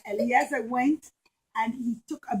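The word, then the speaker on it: Eleazar: I'm calling him Elazar or Eliezer? Elazar. I'm pronouncing his name wrong. So yeah, at one point, Eliezer was the oldest son. Sorry, my mistake. Eliezer.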